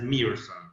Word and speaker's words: Meerson: very easy it's it it is written in english not really correctly with two e so you pronounce it as merson yeah but just uh